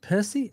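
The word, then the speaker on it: Pécsi: Yeah, so the kid, Armin Percy is Percy. That's how you say it.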